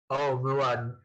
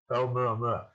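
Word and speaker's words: ʻOumuamua: Hawaiian is an easy language to pronounce. So you basically pronounce it by letter. So it's Oumuamua. Oumuamua.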